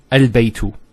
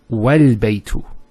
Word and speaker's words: البيت: Now knowing that this is a hamzat al-wasl, we know that with hamzat al-wasl, if it starts off a sentence, it's pronounced. So al-baytu. But if there's something before it, let's say a waw, what happens? It's wal-baytu. So this is not pronounced because it's in the middle of a sentence.